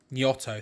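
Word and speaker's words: Gnonto: Nyonto.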